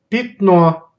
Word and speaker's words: пятно: And letter Ya can be pronounced like E. Here's examples. Пятно, пятно, пятно. Мясник, мясник, мясник. Завязать, завязать, завязать. If the letter Ya is not under stress, then it may be read as E.